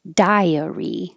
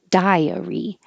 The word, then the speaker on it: diary: now it's a book it's diary with three syllables diary Bridget Jones diary and